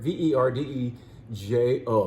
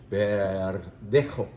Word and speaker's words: Verdejo: Verdejo. Remember, the J is pronounced like an H. Verdejo.